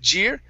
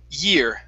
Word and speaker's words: year: Here you use the Spanish Y saying jeer. Okay, so instead of saying jeer, it is ear, year.